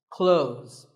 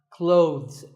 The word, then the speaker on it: clothes: word is not cloths when we say clothes the th in the middle can often be silent close but it's not wrong if you say these letters with a the sound clothes that's also correct in some words people